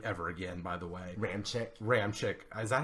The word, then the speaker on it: Ramczyk: Ramczyk. Is that how you say it? Yeah. Is that like confirmed pronunciation?